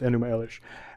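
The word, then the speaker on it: Enuma Elish: Wi on High um uh which would be pronounced enum Elish and uh this account is as old as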